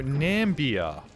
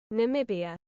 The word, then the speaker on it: Namibia: Oh, I'm pronouncing this really wrong, aren't I? Namibia. It's Namibia.